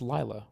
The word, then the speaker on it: Lila: Is it pronounced Leela or Lila? It's Lila.